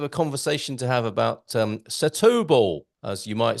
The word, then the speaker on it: Setúbal: You say it's Setúbal. Oh, so that was one I didn't include. Right. Yeah, Setúbal.